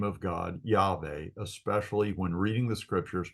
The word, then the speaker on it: Yahweh: This being the case, I believe that it is appropriate to pronounce the sacred name of God, Yahweh, especially when reading the scriptures, praying, or in worship.